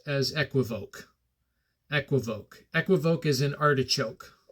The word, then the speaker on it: equivoque: K on the end I say it as equivoque as in it sounds classy this way right